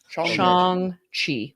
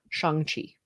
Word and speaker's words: Shang-Chi: I was saying it wrong. Shang-Chi. Shang-Chi. Like Sean. Shang-Chi.